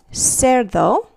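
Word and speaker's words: cerdo: so here's two examples Sero the word for pig is a soft C because it comes before the letter E the English letter e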